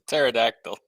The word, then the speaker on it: pterodactyl: It's a pterodactyl. I know. Because the P is silent.